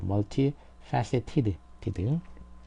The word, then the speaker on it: multifaceted: 그래서 multifaceted t로 끝났기 때문에 ed 발음은 이제 ed가 되죠. t 뒤에는 ed로 발음이 되는 거죠. 여기 앞에가 t이기 때문에 tid 이렇게 되는 거죠. multifaceted 그러니까 드나 발음이 드나